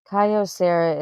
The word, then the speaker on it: Kyocera: Kyocera is how you say out the phone name.